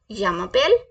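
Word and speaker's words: je m'appelle: रिया सो मैं कैसे बोलूंगी शम पेल रिया यमा पेल रिया य मा पेल इट्स य मा पेल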